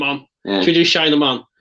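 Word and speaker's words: shine 'em on: Should we do shine them on? That's shine, E-M-O-N. Not them on.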